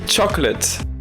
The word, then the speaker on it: chocolate: et bah oui mais non ça se dit chocolate et la nuance ici c'est de faire la